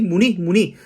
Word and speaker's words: 문의: So actually 문의, but say 문이. So that is a natural phenomena in Korea. So diphthong is two vowels pronounce it together, but here for the easiness of pronunciation, so 문의 suggests 문이, 편의점, convenience store like 7-Eleven.